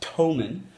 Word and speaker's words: Thomann: Some other interesting things I've learned is that Thomann is actually pronounced Thomann, and it's not in the UK, it's in Germany.